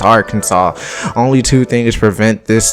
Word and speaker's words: Arkansas: of arkansas usually call it our kansas and i used to be until i got put on and say yo that's not how you pronounce the state's name it's arkansas only two things prevent this tiny town from